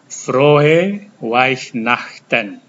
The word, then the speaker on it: Weihnachten: Dan ini ada EI, sudah diajarkan kali lalu, ini dibaca I. Saya ulangi, Frohe Weihnachten.